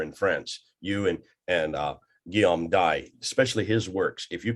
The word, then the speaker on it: Dye: And we shall do that. We shall do this. Guillaume D, or you can pronounce Dye if you want, but French it's D-Y-E.